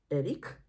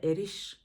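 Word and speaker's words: Erich: কিন্তু না মানে পদবী ওনার নাম এরিক যেটা যেহেতু উনি সুইস নামটা এরিস হওয়া উচিত নয় কারণ এরিসটা যারা জার্মানিতে থাকেন তাদের নাম সুইস জার্মানির নামটা এরিক হয় উচ্চারণ আর উনার পদবী হচ্ছে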